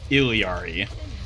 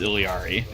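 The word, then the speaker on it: Illari: dies too time to try again yeah the pronunciation ofari is by Blizzard's own declaration ilari ERI is like from what I've understood the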